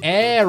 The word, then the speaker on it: Heir: Hey, silent letters? If we don't even need to pronounce you, just get it out. You know what I mean? What's with the extra letters that are just secret, invisible letters?